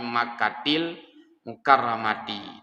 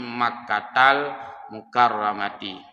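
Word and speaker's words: مكةَ المكرمة: makkatal mukaramati ya kan Kalau bahasa Arabnya ada istilahnya mamnu minasaraf kita tidak baca Mim makatiah ya Tidak Baca mim makkatil mukaramati Tapi bacanya mim makkatal mukaramati Ila baitil Maqdis ya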